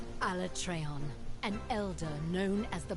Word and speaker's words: Alatreon: this is never realized that's how you pronounce alatreon alatreon an elder known as